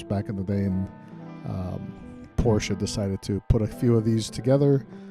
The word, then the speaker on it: Porsche: they uh they kind of know that it's porsha but i've heard porsche and porsche i've heard